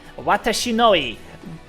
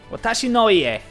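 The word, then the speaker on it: 私の家: Watashinoi. Kouhale. I'm being glared at for my terrible Japanese pronunciation right there.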